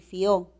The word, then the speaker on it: fió: Una cosa es decir fío con hiato acentual y otra cosa es decir fió.